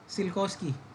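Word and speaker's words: Tsiolkovsky: rockets ये क्या है सिलकोस्की हां टी तो साइलेंट होगा ऑफ कोर्स क्या 1857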